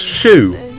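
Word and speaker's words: choux: I've lived my entire life not knowing that chalk is pronounced shoe.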